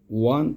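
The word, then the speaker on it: one: বসে আই গট ডশ ওয়ান থাকা note এখানে দেখো এই ওয়ান ওয়ানের উচ্চারণ ওয়া ওয়া মানে শুরুতে ও ডাবলিউর মত এসেছে।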